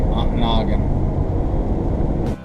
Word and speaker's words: Ontonagon: long for Nana Ontonagon aunt noggin I think I stayed long enough that I pronounced it the local a Ontonagon as you can see